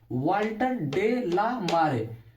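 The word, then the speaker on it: Walter de la Mare: एन एपिटेप, वाल्टर डे ला मारे, pronunciation सुनिएगा, वाल्टर डे ला मारे 1873 से 1956 तक।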